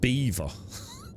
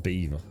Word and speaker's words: Belvoir: Yeah, the locals call it Beaver.